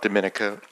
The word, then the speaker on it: Dominica: country's name is Dominica we not Dominican Republic so it's pronounced differently um we are about